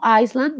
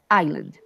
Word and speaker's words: island: My favorite place was Baru Island, no Iceland, but Island.